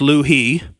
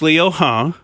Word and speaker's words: Liu He: And that's apparently the way that you say what I would say is Liu He, but it's Liu He. It's the correct pronunciation.